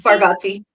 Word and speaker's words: Bargatze: Bargatze.